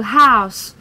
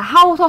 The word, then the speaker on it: How's: hai lần này từ How's vì học sinh toàn đọc là house là ngôi nhà là sai nhá house hoặc là cái